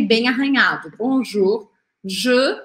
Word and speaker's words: bonjour: Aqui não é bonjour, é bonjour, bonjour, não tem o biquinho exagerado, tá bom?